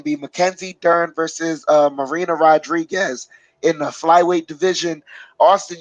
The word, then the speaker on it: Rodriguez: You know, Mackenzie Dern's number 4, and Marina Rodriguez, since Brazil it pronounced RH as I said it. Rodriguez.